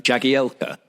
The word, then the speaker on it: Jagielka: are lithuanian and uh the commentators were pronouncing his name jackie elker and not attempting or you tim know how correct so they were using it they were using the anglicized pronunciation what they knew was